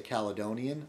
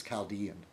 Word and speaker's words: Chaldean: A lot of Americans say Caledonian. I think it's Chaldean, which is basically a Christian.